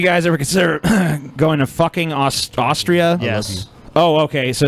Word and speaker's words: Fucking: fucking. It rhymes with booking, apparently. So apparently it's pronounced fucking. Fucking.